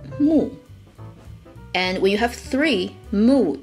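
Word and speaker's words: 木: it will mean forest wood itself is pronounced mu and we have three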